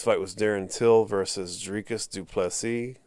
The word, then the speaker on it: du Plessis: was Darren till versus du plessis the S is silent at the end get